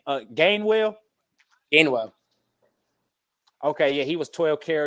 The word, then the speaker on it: Gainwell: Now, how do you pronounce Kenneth's last name? Gainwell? Gainwell.